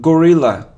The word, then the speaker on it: gorilla: a and a occasionally it isn't gorilla no G Gilla Gorilla it isn't suit no